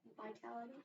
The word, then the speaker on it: vitality: word again Vitality okay this ey here it's not a short eye it's a long eye Vital Vitality Vitality okay so how many